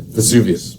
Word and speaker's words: Vesuvius: I might mess up the pronunciation, but Mount Vesuvius, I believe. Vesuvius, yeah. Vesuvius.